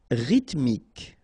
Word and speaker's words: rythmique: Rythmique, remember, Y pronounced like E and then H doesn't exist.